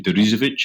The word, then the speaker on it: Deresiewicz: Sheep, William struggles to do his second name, Deresiewicz, I think. That's right. And that's nicely pronounced, man.